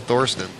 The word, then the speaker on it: Thorsten: sorry it was called Thorsten no he's used to it Ohio accent oh we are in Dallas Texas y'all well you know the you know over there th is pronounced like a T and in America of